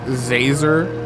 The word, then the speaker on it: Zazer: It's Professor Professor Zazer, like laser with a Z.